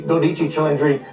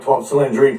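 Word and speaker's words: 12Cilindri: A cylinder sales manager and the general manager there pronounce it correctly. Dodichi Chundry. Don't call it 12 cylindry.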